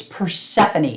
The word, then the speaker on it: Persephone: It's Persephone.